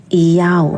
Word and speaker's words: Iyao: The Yod as Iota, Hey as Alpha, and Vav as Omega, pronounced as Iyao.